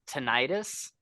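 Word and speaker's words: tinnitus: in some places but I've always heard it pronounced tenius and he called it tinitus and I was like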